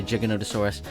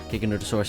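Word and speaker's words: Giganotosaurus: Second dinosaur in the carnivore side will be the giggonottosaurus or as some like to say, jiggonotasaurus. Gigonosaurus is the only correct way to say it.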